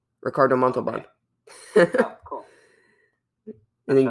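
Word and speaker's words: Ricardo Montalbán: Ricardo Montalban. No. Yeah, no, that's actually how you say it. Ricardo Montalban.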